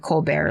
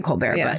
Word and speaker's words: Colbert: Okay, so this is where Buck Colbert, I'm pronouncing it Colbert like Stephen Colbert, but or could be Colbert, but Buck Colbert Franklin,